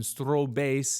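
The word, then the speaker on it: Strohbass: using an operatic stras that's that's the German pronunciation strob Bas it means straw base it's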